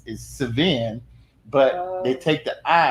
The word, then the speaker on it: Sevin: It's Sevin, but they take the I out and put the E and call him Sevin.